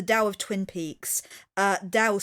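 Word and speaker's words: Tao: But yeah, this is William Dickerson, who's written a book called The Dow of Twin Peaks, uh, Dao spelled with a T, you know, T AO.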